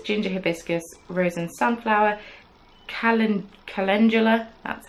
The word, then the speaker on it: calendula: Lea's rosette pieces ginger hibiscus Rosen sunflower Callan calendula that's how you pronounce it and I was manthis petal I've